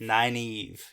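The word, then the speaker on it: Nynaeve: is spelled not like it sounds yeah n-y-n-a-e-v-e Nina Eve nine Eve yep yep and people often mispronounce this name yeah very very often nine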